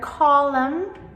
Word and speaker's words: column: So, words like autumn, like the season of autumn, or column. So, both of these have the silent m.